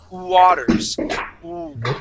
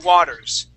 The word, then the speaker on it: Waters: Earth okay all right what you want to do instead of thinking that that is a w there at the beginning of the word I want you to think of an oo sound okay so I want you to start start off the word with an O and then sliding slide into that a okay so we're gonna say Waters Waters Waters Perfect okay so whenever you